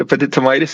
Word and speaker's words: epididymitis: Oh, fuck this acute epididymitis, man. Why does it hurt so much? Put an ice pack on your balls, buddy. you know what acute epididymitis is?